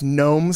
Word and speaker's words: gnome: deny involvement in this gnome Scandal and I I feel you have must pronounce it gnome I just I like gnome I don't want to waste the G well what about the